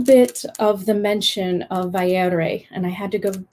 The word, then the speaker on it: Vairë: So Feanor or Manwe, Vaire, Matare, Yastare. There's a pattern there that Tolkien created. So you can practice whenever you see the umlaut, then you know how to pronounce the ending of those words.